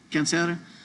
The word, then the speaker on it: cáncer: Cancer is the same, but just pronounce it cáncer.